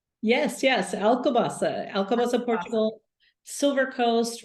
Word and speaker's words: Alcobaça: So she's actually located in, and I hope I'm saying this right, Alcobaça. Yes, Alcobaça, Portugal, Silver Coast, right in the middle.